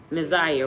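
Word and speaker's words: Na'Ziyah: Ziyah, right?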